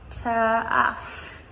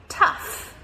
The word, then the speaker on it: tough: Tough. Tough. Yeah. And this one is cough. Cough. So again, tricky pronunciation because these letters make the F sound even though there's no F letter there.